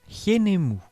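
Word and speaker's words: Khnoum: son tour de potier son nom se prononce yen est mou et s'écrit avec le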